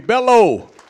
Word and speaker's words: Bello: Please welcome Bello. Rhymes with fellow.